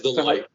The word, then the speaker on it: Deloitte: That's Deloitte. Okay, there you go. Deloitte partner for 10 years, where he worked at the largest Fortune 500 Asian companies for Deloitte, where he led China services and Korean services